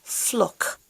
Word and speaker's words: FLOC: time pronouncing This Acronym fluck sometimes I think it sounds like flug or can I say frog anyway on a more serious note This Acronym sounds flock and the full meaning